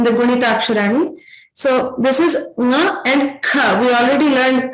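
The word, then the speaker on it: ङ: The last letters of each Varga are nasal. So they're pronounced with a nasal tone.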